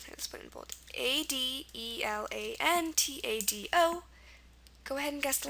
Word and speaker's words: adelantado: pretty clear it's Spanish it's pronounced adelantado adalon and this one is also a good follower of the rules of the Spanish rules um I think the